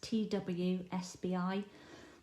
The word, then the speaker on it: TWSBI: This one here that I just showed you, it's a Dsp, and it's pronounced TWSBI.